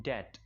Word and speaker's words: debt: इन डेट, एक बात याद रखिएगा, इसको हम डेप्थ नहीं बोलेंगे. अभी अभी प्रोनाउंसिएशन पे मैंने एक लेसन किया, उसके अंदर मैं सिखा रहा था कि इसको कभी भी डेप्थ नहीं बोला जाएगा, ये डेट है.